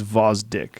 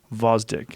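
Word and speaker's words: Gvozdyk: y k but it's vosdick you don't pronounce the g vozdick he's a beast two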